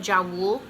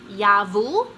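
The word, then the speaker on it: Jawoll: In my vlog, I called it Jawool, which someone commented and said that it should be pronounced Yavul.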